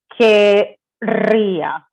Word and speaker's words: querría: this E out, and you're going to put querría. That's the way that you pronounce it.